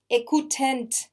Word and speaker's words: écoutent: Ils grattent les citrons or ils écoutent les, it is really a shame. And it's really unfair. But anyway, so yeah, T-E-N-T, écoute, il écoute. J'écoute, j'écoute. You don't pronounce T, okay?